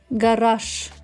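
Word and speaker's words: гараж: flag flag g g when we say Gage we say this word like with the letter sh instead of gash gash softy gash but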